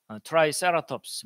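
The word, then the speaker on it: Triceratops: 그래서 뿔 3개 달린 공룡 트리케라톱스, 영어 발음은 트라이세라톱스 뭐 이렇게 합니다.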